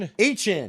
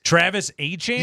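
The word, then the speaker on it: Etienne: Han. Yes, you missed this. Travis Han.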